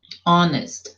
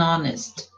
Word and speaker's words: honest: An honest man, honest, an honest.